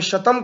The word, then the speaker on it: शतम: अर्थात जिसको हम 100 कहते हैं इंग्लिश में, या संस्कृत में शतम कहते हैं तालव्य शकार के साथ, उसी को अवेस्ता में सतम अर्थात दंत सकार के साथ उच्चारण किया जाता है, सतम कहा जाता है।